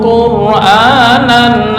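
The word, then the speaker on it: قرآنا: Karena jatuh sebelum atau sesudah harokat dhammah, terus ada ra, ini wajib dibaca tafkhim. Walau ja'alnahu Qur'anan, bukan Qur'an, enggak.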